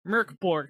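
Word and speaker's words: Mörk Borg: said about because i was like oh wait murkborg has a translation yeah it's murkberg boar merk borg because the mor with the umlaut is pronounced like the myrrh and murder according to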